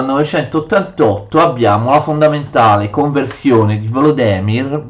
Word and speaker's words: Volodymyr: abbiamo fondamentale conversione di volo demir vladimiro come dicono giustamente ukraini moderne alla fede cristiana